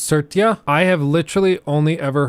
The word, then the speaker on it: Satya: Like, it's just It's pronounced Satya.